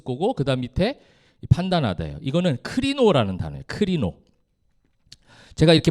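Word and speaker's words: κρίνω: 이제는 아 제가 말 안 할 걸 여러분이 커피 막 이렇게 할 수 할 것 같아 가지고 내가 크리노 크리노입니다. 저 P로 된게 R 발음이거든요.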